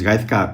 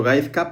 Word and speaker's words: Gaizka: como si fuese la Z fuese una S, entonces sería Vale, Gaizka. Gaizka. Y yo te llevo llamando Gaizka, pero vamos, por los